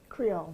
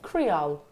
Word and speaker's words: Creole: Creole. Creole. Creole. It's French. It's like it was a French area that then went across to New Orleans.